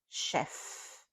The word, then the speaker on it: chef: Chef and as you know the f at the end is not silent.